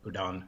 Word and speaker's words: Udaan: uh good good points you did get udon right udaan is the right pronunciation the civil aviation industry